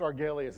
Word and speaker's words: Argelius: further ado Matt thank you thank you it's pronounced arg Elias it's a made-up planet from an old Star